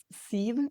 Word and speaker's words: Siv: My first name is Se. It's like Eve with an act in front.